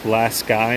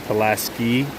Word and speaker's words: Pulaski: Yes, it is pronounced Pulaski, not Pulaski.